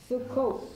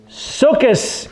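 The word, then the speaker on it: סוכות: Sukkot. Correct, Sukkot. What is Sukkot? It's the Feast of Tabernacles. Sukkos in Yiddish. Sukkos in Yiddish, Sukkot in Hebrew, Feast of Tabernacles in English.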